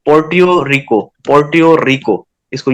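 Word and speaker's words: Puerto Rico: पोर्ट योको इसका name थोड़ा सा डिफिकल्ट है स्पेलिंग इसके है पी यू ई आर टी ओ आर आई सी ओ पोर्ट रिको पोर्ट रिको इसको यं पढ़ेंगे और उसके बाद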